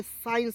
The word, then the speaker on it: science: तो SCINCE साइंस, एस को इसमें साइलेंट कीजिएगा, साइंस हो गया।